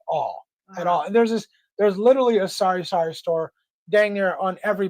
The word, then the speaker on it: sari: permit to open a sari store? Sometimes it's sorry. That's what I thought it was at the first time I heard it, because it's pronounced the same way, right? It's SARI.